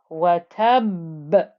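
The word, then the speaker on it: وَتَبَّ: 1, where we had watab. So you can hear that pressing noise of the ba in this ba with the shadda before you get the bounce back of the qalqala.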